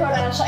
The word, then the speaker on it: Horacio: Ayan, tama na talaga pag-pronounce si Sir Horacio.